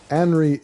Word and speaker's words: Anri: Anri is a name like Henry.